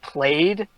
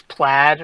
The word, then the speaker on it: plaid: uniforms and he goes you guys are getting played but it's it's plaid right he just pronounced it wrong yeah kind of yeah